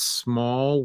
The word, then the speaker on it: Smol: So it's Small World Workshop. It's small is spelled SMOL. Small.